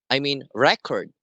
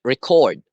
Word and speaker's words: record: So the first word, record, the stress is in the first syllable, which means a set of documents or any records that contains information. And the second word is record. So the stress is in the second syllable, which which implies an action.